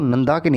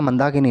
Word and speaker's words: नंदाकिनी: जब यहाँ पे नंदाकिनी, देखो नंदाकिनी है, मंदाकिनी नहीं है नंदाकिनी जब यहाँ इससे मिलती है, तो उसका नाम, जिस जगह पे मिल रही है उसको हम कहते हैं नंद प्रयाग।